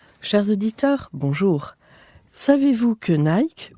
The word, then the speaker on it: Nike: auditeurs bonjour savez-vous que Nike ou plutôt Nicky prononcé à l'américaine vient de livrer son